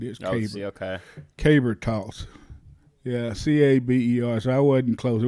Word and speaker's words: caber: oh yeah yeah i think that's called a caber caber okay k-a-b-e yo let's see you spell it k-y b-e-r yeah i'm gonna look here too i'm gonna look look it's k-a-b-e-r caber caber throw caber toss c-a-b-e-r that's what it